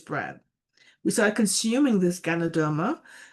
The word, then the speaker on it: Ganoderma: My mother used to call it Gamaderma. She couldn't pronounce it well at the time. And same here. Took me a couple of months to say it the right way.